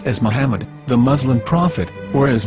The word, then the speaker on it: מחמד: According to Ben Yehuda's Hebrew English Dictionary, it is correctly pronounced as Muhammad, not Mamad. So how we're going to know for sure if it's pronounced as Muhammad, the Muslim prophet, or as Mamad, a random Hebrew word?